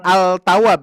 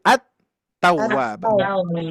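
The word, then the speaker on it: التواب: Oke, di sini kan tidak dibaca al-tawwab ya, tapi at-tawwab.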